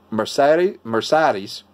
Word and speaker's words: Mercedes: I have my Mercedes. I'm trying to pronounce it like the Germans do. It's not Mercedes. We in America, people go Mercedes-Benz, but it's not. It's like Mercedes. Mercedes. That's because it's German.